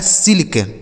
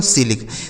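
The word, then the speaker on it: silk: क्या लिखा दोस्तों, सिल्क। तो देख रहे हैं ना, जब भी दो कॉन्सोनेंट के बीच में आई लिखा होगा तो उस आई का उच्चारण हमें छोटी की मात्रा कर देना है।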